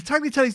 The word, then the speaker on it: tagliatelle: The tagliatelle's the long one, right? Tagliatelle. The G is silent.